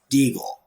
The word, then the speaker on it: Degle: want to go by diggle now or some combination of the two so the my name is pronounced deagle that is actually how you pronounce it i just spoke okay yeah so like okay